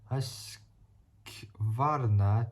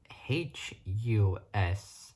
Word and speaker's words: Husqvarna: Anyways, it's related to the KTM 200 EXC, the KTM 250 EXC, and the Husaberg Husqvarna TE300.